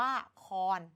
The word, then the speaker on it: ละคร: อย่าง นี้ เป็น ต้น ค้อน ตัว นี้ เกิด จาก คอ รอ คอย อ่าน ว่า ละคร แต่ ใน การ เขียน